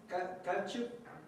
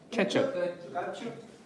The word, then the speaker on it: ketchup: care what's going on there is a a short e sound like in the word bread or head yeah or yeah you're